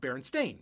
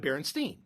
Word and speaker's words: Berenstain: has an a staning breaking it should be pronounced Baron stain right instead of Baron Stein even during the writing of this piece reading